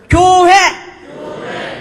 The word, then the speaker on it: 교회: 발음을 잘해야 돼. 고해하지 말고 교회.